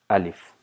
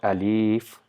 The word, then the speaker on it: alif: this entire course so it is not a leaf no it's alif so the sound uh and sound e is pronounced quickly alif so this is actually